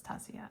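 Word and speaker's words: Taccia: because I was like, is it Tatsia or Tassia? Because I've heard somebody refer to it as Tassia, and she was like, it's Tassia.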